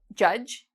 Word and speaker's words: judge: So our first rule about silent D is not pronounced in when you see spelt D and G together. Okay? So for example, there's a job, judge, like Judge Judy.